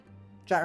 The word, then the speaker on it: JAT: velociraptor person, plant person, JAT rhymes with cat, that's true.